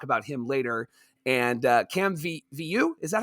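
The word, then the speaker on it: Vieaux: And Cam Viu, is that how you pronounce that? Vio, yeah.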